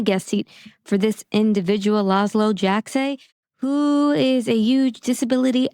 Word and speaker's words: Laszlo Jajczay: today we have a special guest, Laszlo Jajczay. I always say it wrong, but I think I said it right. Yeah, you said it right this time.